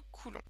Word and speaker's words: Coulomb: l'unité de la charge et bien c'est le Coulon alors Coulon ça s'écrit comme ça Coulon et ça vient du